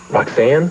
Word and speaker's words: Roxanne: Roxanne? Well, it rhymes with Fox, and that's who you are, Teddy boy.